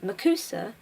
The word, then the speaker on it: MACUSA: Known to all American witches and wizards by the abbreviation MACUSA, commonly pronounced as Ma-Cus-A, it was the first